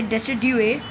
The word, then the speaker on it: Decidueye: I know the pronunciation, so I can say Decidueye. That's the correct pronunciation. Okay, so let's kill this guy. Decidueye.